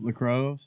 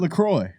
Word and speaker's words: LaCroix: drinks what i'm calling the cups water lacrosse okay i said it right now no you didn't i was no i hate you i thought i had it right does it look what is it lacroix okay whatever look lacrosse